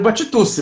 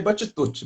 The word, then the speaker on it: Batitucci: Eu prefiro Batitusse, né? Que é como a gente pronuncia no Brasil, né? Se a gente estivesse na Itália, a gente falaria Batitucci, mas a gente não tá, a gente está aqui.